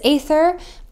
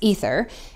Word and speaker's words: aether: concept of the aether you might have heard of this aether or it can also be pronounced ether in a common expression